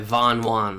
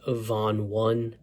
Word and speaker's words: Von Won: Undefeated by Von Juan let's talk about it so I'm currently editing the video I highly apologize I'm pretty sure his name is pronounced Von one not ju I for some reason I was